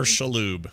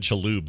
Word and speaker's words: Shalhoub: Yeah, she said Shaloub though, like chalupa. Shaloub. Yeah. Oh. Like a chalupa.